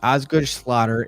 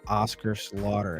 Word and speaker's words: Osgood-Schlatter: nor there uh see Osgood-Schlatter is an orthopedic growth disorder in the knee it's often mispronounced Oscar Slaughter that's how I said